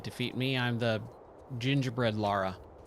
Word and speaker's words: Lara: me I'm the Gingerbread Lara it's so funny that a lot of people will still say Laura when it's clearly Lara and you hear people